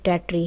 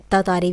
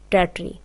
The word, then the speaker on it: Tartary: Dear students, जो title है poem का उसकी करेक्ट प्रोनाउंसिएशन टेट्री है। सम टीचर्स इसको तातारी भी पढ़ते हैं, बट the correct pronunciation of this word is टेट्री।